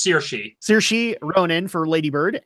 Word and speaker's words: Saoirse: Tanya I'm gonna burn under that sours it's pronounced seer she saoirse ronan for Lady Bird and Meryl Streep